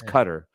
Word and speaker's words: Qatar: everyone loves to say Qatar but it's not pronounced Qatar it's it's I'm serious it's a very serious moment John it's not Qatar it's Qatar yeah it's cutter so that's kind of a weird one but